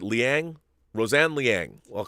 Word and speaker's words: Liang: woman named roseanne lang i think it's how you pronounce the last name l-i-a-n-g or is it liang roseanne liang i'll call